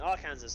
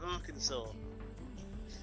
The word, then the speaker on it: Arkansas: a minute in my brain say like saying are kansas our kansas what how am i to pronounce this again uh arkansas you guys take the piss out of us